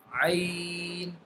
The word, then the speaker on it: ع: Ain. Ain. Ain will be pronounced by the lower end of the throat.